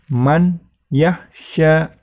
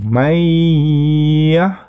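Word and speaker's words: مَن يَخشىٰ: Ya, jangan man yahsya. Salah. Jadi harus mendengung. Mayyahsya.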